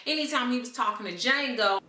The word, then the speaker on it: Django: he was talking to Jango the D is silent he was able to